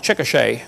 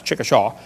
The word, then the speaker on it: Chickasha: it 2005 textbook and I pronounced it wrong as Chickasha that's Chickasha Chickasha Oklahoma I got corrected during